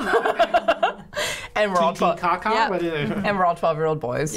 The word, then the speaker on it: Titicaca: us to Puno, which is right near Lake Titicaca. Is that the actual pronunciation? Yes. Yes. Lake Titicaca? Yeah. I did not know that. And we're all 12. Titicaca?